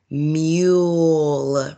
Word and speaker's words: mule: Mule. Mule. Remember that magic E is silent. It doesn't say anything.